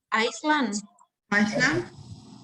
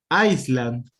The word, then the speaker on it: Iceland: pay attention to this how would you pronounce this one iceland okay i will show you what iceland is you said if i hear you say it like that you said this iceland this is iceland like this spell like